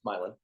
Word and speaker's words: Milan: It's not Milan, it's Milan. Milan, much like Nevada, not Nevada.